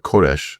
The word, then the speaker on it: Koresh: And so the Iranians, when we go to Israel, we take pictures in front of Koresh Street because it's their how they pronounce Cyrus the Great.